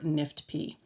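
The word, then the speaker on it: NIFTP: acronym the letters are n-i-f-t-p and it stands for non-invasive follicular thyroid neoplasm with papillary-like nuclear features in the world of thyroid cancer this is pronounced nift p so the answer is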